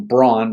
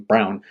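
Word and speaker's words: Braun: you call call him Brun because that's kind of the way b r a u n but he pronounces his name Brown um um but working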